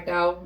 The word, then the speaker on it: McDowell: It's either McDowell or McDowell. We pronounce it either way.